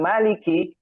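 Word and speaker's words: مالك: Kemudian kata ka maliki, kafnya itu mengeluarkan udara. Maliki ya. Maliki tidak berlebihan juga maliki gitu ya, tidak usah ya. Keluar cukupnya maliki. Sehingga membedakan antara huruf kaf dengan huruf kof ya.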